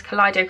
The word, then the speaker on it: Kaleido: Yeah, Kaleido. I nearly said Kaleidoscope because it's spelled the same, but it's Kaleido.